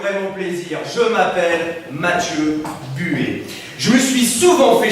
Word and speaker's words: Buet: Et Buet, alors ça s'écrit B-U-E-T, ok? Donc rien à voir avec la buée que t'as sur tes carreaux le matin, hein?